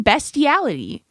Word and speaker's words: bestiality: I always pronounced it beastiality I have always heard beastiality an a there he's not he's ignoring the a he's saying bestiality hold on beast beast